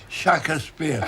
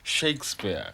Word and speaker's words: Shakespeare: or shakespeare yeah yeah nobody in the caribbean have i ever heard the shaka spear they said shakespeare this it's shakespeare yes well i wasn't into shakespeare nello no you didn't